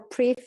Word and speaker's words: Pryv: It can be said Pryv or Pryv, depending how you pronounce it. It comes for privacy.